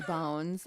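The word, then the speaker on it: Beaune: ridges on coat de bones I'm just going to spell it out for you okay so Co de bone but it's b e a u n e I thought when you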